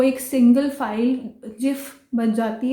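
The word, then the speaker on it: GIF: तो हम इसको गिफ नहीं बुलाएंगे, जिफ बुलाएंगे।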